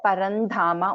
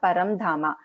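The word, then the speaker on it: परन्धामा: Okay, Parandhama, this is also Parandhama only. It is not Paramdhama. It is Parandhama only.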